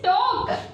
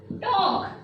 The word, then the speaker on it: talk: It is talk. What is that? It is talk. So, which word is silent here?